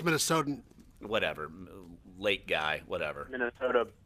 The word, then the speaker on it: Minnesotan: Because you're not a native Minnesotian. Is that how you say it? It's Minnesotan.